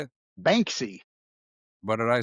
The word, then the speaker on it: Banksy: Banksy, What did I say? Bansky.